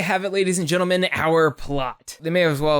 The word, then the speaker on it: Eaux: I have boudin balls like 5 times a year and EAUX is pronounced O.